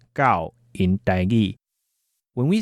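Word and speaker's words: 九: The number 9 is pronounced gao, as in gao jia gao, for 9 dogs.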